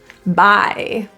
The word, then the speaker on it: bye: instead of his his bye this has two vowels I I typically the E portion is the part that disappears get that little Smiley tail in there bye from this vowel